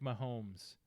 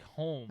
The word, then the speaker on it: Mahomes: Patrick Mahomes. But I did say it. I did You say said it wrong. Patrick Holmes.